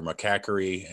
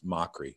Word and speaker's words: Mochrie: People say Mochrie or McCackery, and it's Mochrie.